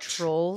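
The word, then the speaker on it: Troels: In Danish, you would just say trolls.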